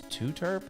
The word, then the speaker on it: Tooterp: Yeah, his channel's name is, I guess it's Tooterp. I guess that's how you pronounce it.